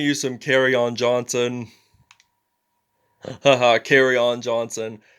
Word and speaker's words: Kerryon: It's kind of like, I like that, how you pronounce it. As like when you're outside in the hallway at school and then the principal kind of interrupts and then afterward they say carry on.